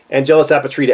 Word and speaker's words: Angelus Apatrida: I finally am starting to be able to pronounce his name. APATRIDA, Angelus APATRIDA.